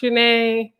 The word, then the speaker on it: Shaneé: okay i was like my name is shanae and like that's basically all i said is like it's pronounced janae and uh like i